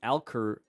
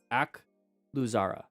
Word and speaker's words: Akluzara: I can never pronounce that. I always think it's Alcurzara. It's Akluzara. Just put it Nathan.